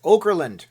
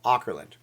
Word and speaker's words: Auckland: all the time so some people say it's Oakland Oakland Oakland Oakland Oakland thank you and I'll